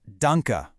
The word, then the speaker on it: Danke: Then we have the word for thank you, which is danka, pronounced dunka.